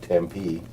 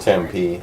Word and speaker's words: Tempe: Tempe. I think it's called Tempe. Is it Tempe? Word. I think it's Tempe. Tempe. Okay, maybe I put the emphasis on the wrong syllable.